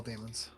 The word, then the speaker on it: daemon: They were daemons, which is pronounced demon.